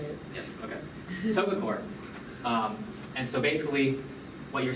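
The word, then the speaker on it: TOGA COARE: So what I'm showing you here, this is from a field campaign, Togacor? Do you know this? Yes, that's how you say it. Yes, okay. Togacor.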